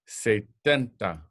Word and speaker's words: setenta: seventy in English but in Spanish it's say tenta setenta say tenta repeat uh por favor